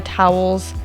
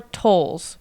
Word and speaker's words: Towles: about this is table for two by Amore towels did I say his name right tows oh amore to TOS I was almost close Amore tolls right TOS tolls table for two by Amore